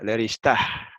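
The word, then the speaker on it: לרשתה: Otra vez ahí la G final se pronuncia, se suena, Leristah. ¿Eh? Casi como una jet, pero no tan fuerte. Si fuera jet, diría leristah. Si es G con Mapic, es leristah. Más suavecita que la jet.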